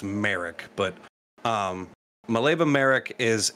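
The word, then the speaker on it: Marić: eventual wife um maleva merk i think i previously pronounced it incorrectly to you of any i believe it's merrick but um malevo merrick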